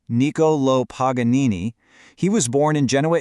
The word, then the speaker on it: Niccolò Paganini: Let's meet Nicolo Paganini and that's pronounced Nikolo Paganini.